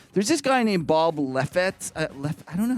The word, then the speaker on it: Lefsetz: It's Lefsetz.